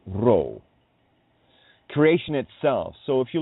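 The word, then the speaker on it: ruach: nature take its course roow means Spirit breath pronounced roow creation itself so if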